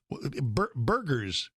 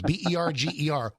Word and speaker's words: Berger: What is Berger's disease? Berger. What is it? Yeah. Well, that's how I pronounced it first. I think it's actually pronounced Berger disease.